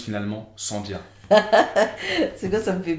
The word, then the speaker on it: Saandia: On dit Saandia. Saandia. Ouais. Avec Saandia. les deux A. Les deux A se prononcent.